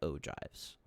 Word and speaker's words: ogive: frequency polygons and ogives that's that's how you pronounce that word ogives so i what i got here is um